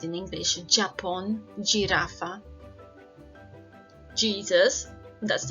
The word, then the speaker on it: jirafa: Letra J is pronounced as H sound, como en Japón, jirafa, Jesús. Let's have a look at this one again. Japón, jirafa, Jesús. Remember, don't ever read it as a J sound in English.